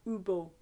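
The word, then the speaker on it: hibou: Du haut de son grand chêne, il répond à Ubo. Il répond à Ubo. So you're not pronouncing the H's on the Ubo.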